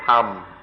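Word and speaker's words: ธรรม: In Thai, they don't even try, they just pronounce it tham.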